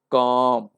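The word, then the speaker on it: calm: एक और एग्जांपल लेते हैं, काम। इसमें भी एल साइलेंट है, इसका मतलब कि एल का हम लोग जो है स्ट्रोक नहीं लिखेंगे।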